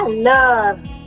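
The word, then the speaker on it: l'heure: The last E is silent. The H is silent, which only leaves us with L, E, U, and R, which finally sounds like lure.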